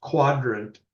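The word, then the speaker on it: Qdrant: relevant bits, I'm using I'm told this is pronounced quadrant, but since we're computer people, we can't spell correctly.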